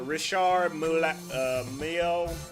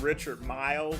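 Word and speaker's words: Richard Mille: And then you got the other side of the spectrum that truly wears uh Rishard Mio or I call him Richard Mile, but I know it's pronounced differently.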